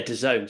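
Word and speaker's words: DAZN: the proper questions is so Doone so that's how you say it is it Doone that's the the sport subscription mainly boxing right yeah exactly a lot of people struggle with it doen exactly never sure but yeah Doone so anyone that's listening that's how you say it we've solved that one yes exactly right yeah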